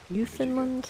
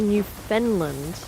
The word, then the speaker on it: Newfoundland: People always say Newfoundland, and Quasi says it's just like Worcestershire, which is spelled Worcestershire. Pronounced Worcestershire. He says smash it together really fast.